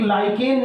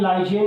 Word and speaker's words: lichen: एक लाइकेन नाम का एक पौधा होता है, लाइकेन, लाइचेन जैसा लिखा हुआ है, LICHEN, मे बी प्रोनाउंसिएशन में भी डिफरेंट।